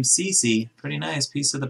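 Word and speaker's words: Ceci: one for the senators cody ceche cece now you guys told me you say his name cece pretty nice piece of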